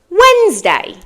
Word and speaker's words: Wednesday: move on to word two word two is Wednesday Wednesday what day is it today is Wednesday